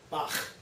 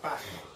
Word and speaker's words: Bach: sound at the end of the composer's name, Bach, because that's what we say it. Okay? It's not the way they say it in Germany. It's a softer sound, something like Bach.